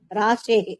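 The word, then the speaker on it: राशेः: ராஷேஹே. Okay. ராஷேஹே அந்த விசர்க்கம் வந்து இர்ரா இருக்கு இல்லையா, அந்த இர்ர வந்து விசர்க்கத்தை விசர்க்கமா போட்டுண்டு அத வந்து ஹே ஹேவா ப்ரொனவுன்ஸ் பண்ணணும்.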